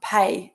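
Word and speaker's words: Peay: One of my favourite Sonoma producers is Pei. It's spelled P-E-A-Y, Pei Wines, and they make beautiful wine.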